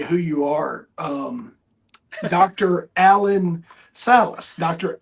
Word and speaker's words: Alain: Allen Salace Dr. Alen. A l i a l a i n. Salis. So we pronounce it in the states. Allen. Um alen is the French pronunciation.